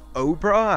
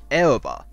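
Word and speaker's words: Oerba: Elba it's not pronounced Oprah as I actually used to pronounce it before I fully completed five homes 13 but it's Archie pronounced Elba ever that's how Vanille and Fang pronounce it the Academy has restricted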